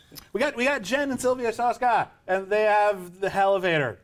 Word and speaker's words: Soska: Hey, we got Shushka! That's the only person who knows how to say her last name properly. You're welcome. Thank you. We got Jen and Sylvia Shushka, and they have the Hellevator.